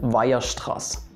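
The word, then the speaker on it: Weierstrass: is your boy via stress carl theodore wilhelm viastras if you did analysis before or calculus i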